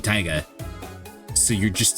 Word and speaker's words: Taiga: Because the way you would pronounce that in Japanese, you would pronounce Taiga in Japanese would just be Taiga.